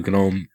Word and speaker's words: GNOME: There's a nightlight applet as well, which lets you control the new GNOME night stuff. Did I just say GNOME? I actually said it right.